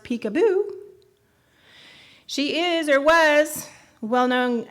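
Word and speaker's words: Picabo: name of peekabo Street peekaboo pronounced peekaboo she is or was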